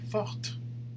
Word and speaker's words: forte: So for some of these, you can just add an E at the end. Like with a T, you say forte, right?